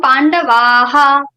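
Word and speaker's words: पाण्डवः: To add, after adding visarga, it will become pandavaha.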